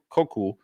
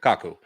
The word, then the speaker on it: Kaku: that should be asked, I always get his name wrong. Michio Koku. Gosh, I get his name really wrong, but I'm going to look it up and try and pronounce it here correctly.